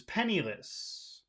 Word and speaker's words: penniless: the length of the vowel sounds he was penniless he was penniless he was pennil do you